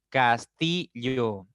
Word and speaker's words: castillo: Pasa lo mismo con castillo. Castillo, la mayor fuerza está en la segunda sílaba.